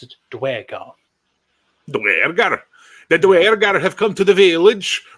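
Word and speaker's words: Duergar: So Dwergar is apparently the way that it's meant to be officially done. Duragar is another one.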